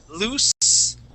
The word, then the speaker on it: loose: here in your throat loose no vibration lose vibration that's voiced so that's how we